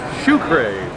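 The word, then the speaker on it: Czuchraj: stop is here Edie if you're having trouble pronouncing this name its Sucre and we picked up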